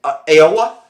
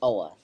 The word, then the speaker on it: Oa: Is it Aowa? Just Oa. That's it. Oa.